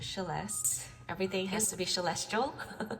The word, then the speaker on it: Celeste: Inspired by my name is spelled Celeste, pronounced Celeste.